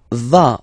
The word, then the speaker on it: vas: Tu vas. Final S doesn't exist.